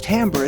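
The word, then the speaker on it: timbre: overtones are the term tamber is the tonal quality of a particular sound it's often mispronounced as timber because the spelling of both words is similar what makes the tonal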